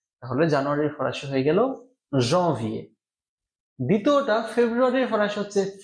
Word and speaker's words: janvier: এ ও এর, এ, তাহলে জানুয়ারির ফরাসি হয়ে গেল janvier।